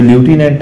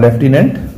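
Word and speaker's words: lieutenant: इसकी स्पेलिंग अक्सर आया करती है, ये ल्यूटिनेंट है लिखना और लेफ्टिनेंट उसे पढ़ना है।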